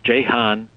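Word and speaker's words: Ceyhan: for bakut toy in Georgia and Sean or Jan as it's pronounced on turkey's Mediterranean coast and because this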